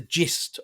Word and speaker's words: gist: You wouldn't expect it to be spelled as it's spelled with a G. G I S T. I know. Gist. It It's more of a like Yeah. You would think it's with a J, wouldn't you?